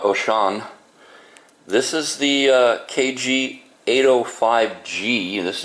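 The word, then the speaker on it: Wouxun: This one is the Wuxin, is how it's spelled, but it's pronounced Oshan.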